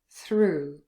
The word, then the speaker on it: through: So here again we've got 4 letters, O-U-G-H. It's only one sound, U, through.